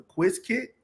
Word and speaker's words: Qiskit: I'm gonna pronounce it properly. The Quiz Kit.